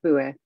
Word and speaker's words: Boué: Boué. Boué, okay. Yeah, Boué. I think I pronounce too much of the E then when I do it, probably. Boué. Boué. That's okay. Boué is fine too.